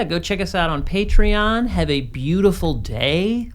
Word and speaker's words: Patreon: that we have a Patreon now, and it's very exciting. I just pronounced it Patreon, but it's actually Patreon.